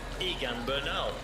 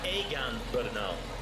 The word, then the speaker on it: Egan Bernal: Uh, another one was in English you would pronounce just look at it and say Egan Bernal. It's Egan Bernal and it's a name we'll be talking about on tipping for about 15 years.